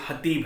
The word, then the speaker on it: Hatip: हैं ना जिस तरह, तो ये हतीब है क्योंकि यहाँ इनकी टर्किश ABC में के नहीं है, वो H को ही खे प्रोनाउंस किया जाता है, हतीब।